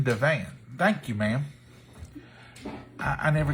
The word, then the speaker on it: Divan: about this so dona donut says it's duh van so it's chicken divine thank you ma'am i